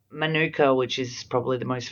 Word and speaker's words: manuka: Manuka comes from the language of the Modi people, the indigenous people of New Zealand. Now we pronounce manuka with the emphasis on the ma.